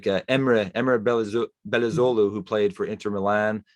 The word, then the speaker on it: Belözoğlu: the British commentators sort of talk, like Emre Belözoğlu, who played for Inter Milan for a while. It would be Belözoğlu. It's just, it takes 2 seconds to look up how to pronounce that name.